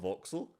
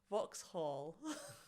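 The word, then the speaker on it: Vauxhall: box voxel it's not voxel Vox Hall it's not voxel it's not VX o voxel no I'm saying without like the pronunciation on the H I know but you should say the H no I mean potentially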